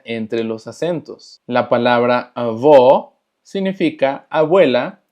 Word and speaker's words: avó: Y avó tiene el acento circunflexo, lo que hace que la pronunciación sea cerrada.